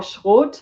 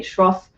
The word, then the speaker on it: Schroth: about right so schwarz or schwart how we say in in german was developed by a lady called katarina and you know i'm german so i am i'm saying it in the the german pronunciation however the english or americans they usually say shroff so katarina she was